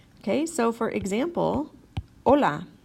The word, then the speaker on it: hola: is in the word you don't pronounce the letter H okay so for example hola not Halle not Halle right remember